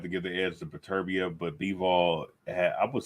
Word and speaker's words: Beterbiev: Kovalev, fucking Beterbiev or Beterbiev. That's how you say it.